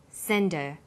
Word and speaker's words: send her: did you send her send is the strong form and her is weak because her is not stressed we drop the initial H sound so it's pronounced sender what did you sender